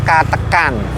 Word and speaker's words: Katekan: Sebut saja Katekan, pengucapannya cukup mirip, kan? Jangan lupa, Kata-an dan Katekan, yang satu menggunakan 'a', yang lainnya 'e'. Yang lebih rendah adalah Kataan, yang sedikit lebih tinggi adalah Katekan.